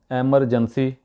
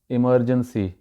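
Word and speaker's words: emergency: इसको वहाँ पे बहुत गलत गलत तरीके से बोला जाता है, एमरजेंसी या एमरजेंसी, नहीं ये गलत है, इमरजेंसी, इमरजेंसी, इमरजेंसी, ये है इसका सही तलफ़ुज़, एक्सक्यूज़ मी।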